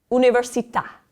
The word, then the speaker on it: università: The A is accented with the accento grave. Allora, università.